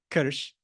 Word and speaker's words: krš: Karst, Ved correctly pronounced in Croatian, krš. In Slovene, the word is kras, and I'll get to that.